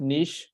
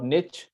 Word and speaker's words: niche: have seen the best Niche or Niche you know some people say Niche some people say Niche this word is like confusing but anyways uh depends on how you pronounce it so the best